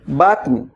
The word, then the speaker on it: button: বাটন set your বাটন মনে রাখবেন বি ইউ টি টি ও এন বাটন উচ্চারণটা হচ্ছে বাটন বাটন আমরা বলি বাটন নট বাটন বাটন এখন থেকে বলবেন সেট